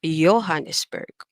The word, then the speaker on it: Johannesburg: the letter J, and the letter J is actually pronounced in the German language as Y. So, for example, instead of saying the word Johann, okay, we say Johann. Okay, Johannesburg is Johannesburg.